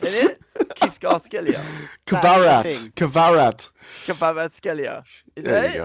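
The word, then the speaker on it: Kvaratskhelia: Kivskov-Skelia, isn't it? Kivskov-Skelia. Kvarat. Kvarat-Skelia.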